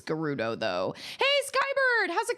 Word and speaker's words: Gerudo: I always pronounced it Gerudo Valley, but I've heard people say Gerudo. I think it's Gerudo though.